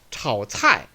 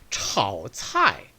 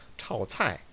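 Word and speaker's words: 炒菜: 炒菜, 炒菜, 炒菜. 결코 이걸 갖다 완전 반삼성을 안 지키게 되면 이렇게 발음되게 되죠. 炒菜, 炒菜.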